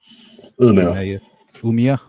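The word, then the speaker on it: Umeå: Um Mishuga is my favorite metal band from uh was it Umea? Is that how you say it? Umea. Uma.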